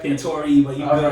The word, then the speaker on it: Pantore: We got Pantore, right? Yep. Pantore? Yep. I pronounced it right? Pantore, but you All good.